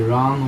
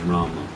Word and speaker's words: Rama: ram should we say Ram or R well I in my opinion of the full Sanskrit pronun pronunciation is Rama the Bengali pronunciation may be Ram Bengali and Hindi also